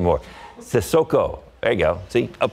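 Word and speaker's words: Cissoko: You got to start playing with the Spurs more often so we can pronounce his name more. Sissoko.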